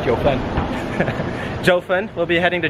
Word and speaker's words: Jiufen: So anyway, he'll be joining us today and we'll be heading towards the Jiufen, what's the correct pronunciation? Jiufen. Jiufen.